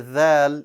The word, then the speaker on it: ذ: that so like that the tip of your tongue will extend to the bottom of the front two teeth there you will say